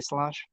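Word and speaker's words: sláinte: Ah that's um salanche salanche is that how they say it s l a i n t they say slange salude is oh man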